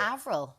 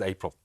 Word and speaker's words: Avril: Here's one, Avril, pronounced as, people are saying they don't get Avril right. I thought Avril was quite universal. No, I know somebody who pronounced Avril as April.